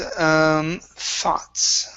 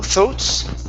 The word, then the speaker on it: thoughts: And our last one is thoughts. Where'd you go? Okay, right here. Instead of thoughts. Okay, this is an ah sound.